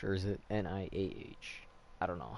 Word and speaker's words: Nioh: And then now I'm hearing that there's Sekiro and Nioh, Nioh, or is it Niah? I don't know how you say it. Nioh, right? Like Neo, but just spelled differently.